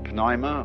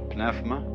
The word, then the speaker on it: pneuma: The Greek word, you may pronounce it pneuma or pnefma, is the same as spirit.